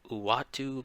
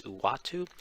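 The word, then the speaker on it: Uatu: is watu the watcher a lot of people um have a bunch of different ideas of how to pronounce his name i go with one of the more comments which is uwatu um basically he is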